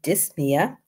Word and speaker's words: dyspnea: When you see nia, the P is silent.